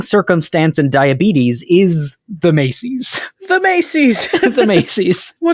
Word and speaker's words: macies: Weirdly enough, macies, M-A-C-I-E-S, also came to English in the 15th century as Macy's. Same spelling, but pronounced Macy's.